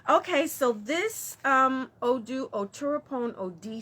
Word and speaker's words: Odi: So Oturapon OD, somebody asked me to spell it, Oturopon. ODI. Some people say IDI, right?